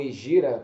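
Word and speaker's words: Hégira: Essa Égira, né, ou Egira, como as pessoas, dependendo da pronúncia, mas Égira, né, inaugurou o calendário islâmico.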